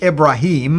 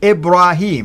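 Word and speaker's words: Ibrahim: it's actually with the the way the Quran pronounce it ibraim right and the idea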